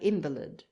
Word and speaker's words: invalid: of the french marine even a word like invalid of latin origin has when used as a noun thrown its accent forward to correspond to the french ambilide this tendency to give